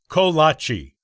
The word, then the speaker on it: kolache: Let's start with the pronunciation, which is ko-lah-chee.